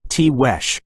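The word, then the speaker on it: Tiguex: The expedition found a large cluster of Native American pueblo known collectively as the Tigux, pronounced Tesh province.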